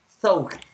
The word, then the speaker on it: thought: to pronounce that is, remember when you have the TH, this sound like when your tongue touch your teeth. For that reason, you have to pronunciate thought. Look at my mouth, thought. You have to touch your teeth with your tongue, okay?